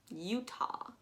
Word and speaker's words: Utah: You've got U, literally just the letter U, ta.